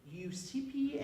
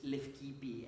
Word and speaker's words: Leucippe: Ethiopita, and Achilles Tatius's in English Latin pronunciation, Leucippe and Clitophon, okay, which is Lefkipi and Clitophon in Greek.